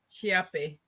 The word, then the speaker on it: Chiappe: wrong hi everyone um it's pronounced chape CH I was even close